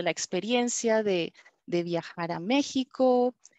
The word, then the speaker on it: México: no de otra manera yo porque lo pronunció como si fuera una jota y no como una equis no entonces es muy